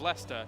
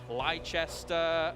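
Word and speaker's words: Leicester: just want to say your pronunciation of Lester is fantastic nobody in my office from America could actually say it it was Li chesta um never said that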